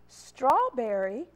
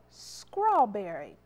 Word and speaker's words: strawberry: this one quite often strawberry or scrawberry it's not scrawl s-c-r it's straw that blend there the s t and adding that r